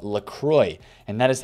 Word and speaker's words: Lacroix: But of course, since he is French, I'm doing the fellow Frenchmen that watch these videos, and of course this man himself, a disservice by pronouncing it that way. So I believe it is now supposed to be pronounced LaCroix, basically.